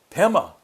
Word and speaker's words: Pema: In Tibetan, in the Tibetan pronunciation of the Sanskrit, the Tibeto-Sanskrit, they say, Padma becomes Pema.